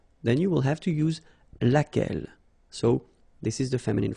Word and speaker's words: laquelle: And then the feminine form, so singular, we saw it laquelle, okay? So basically same rule, Q-U, U is not pronounced here.